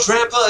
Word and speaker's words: Drampa: Is it not Drampa? Is that not how you pronounce that?